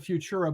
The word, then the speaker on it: Fvtura: spell it for people it's actually f v as in victor t isn't tom u r a so it's you call it futura but it's like spelled a little funky so you know where